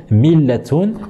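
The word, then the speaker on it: مِلَّة: Mais on dit également millatun, millatun. Et ici on retrouve justement la lettre lem avec une shadda et nous dirons millatun et din.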